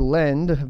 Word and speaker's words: Ledn: So Ledn, or Lend, basically spelled like hodl, offers credits in US dollars and USD coin, stablecoin, with an annual interest rate of 7.9%.